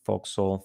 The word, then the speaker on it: forecastle: on about forecastle um it's pronounced folk soul foxhole whatever you want to say um great so let's